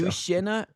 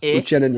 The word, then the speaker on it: Uchenna: That's not one we don't run across in America a lot, with that pronunciation on those 2 letters together. So Yushina Nwosu? that's close enough. Uchenna Nwosu.